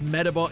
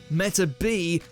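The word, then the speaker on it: Metabee: right wrong transport ready turns out the d is actually a t meta b is the correct way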